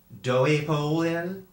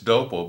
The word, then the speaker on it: Doepel: Thank you for agreeing to meet with me, Reverend Doepel. Reverend Doepel. It's Dopel, but you can call me Pastor.